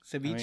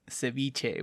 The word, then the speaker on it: ceviche: Ceviche?